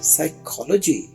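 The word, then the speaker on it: psychology: अब यहां पर पी साइलेंट है। और ये लफज़ है साइकोलॉजी। देखिए यहां पर पी की आवाज आपने नहीं निकालनी। पी बिल्कुल खामोश है। जैसे है ही नहीं।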